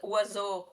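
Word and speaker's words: oiseau: English English speakers are more French for it's pronounced wazo.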